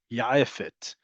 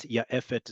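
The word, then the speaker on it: יעפת: Jet lag also has its own Hebrew alternative, ya'efet. And I personally like to say this with the ayin because having learned Arabic, I know how to say it. But if you can't, ya'efet is perfectly all right.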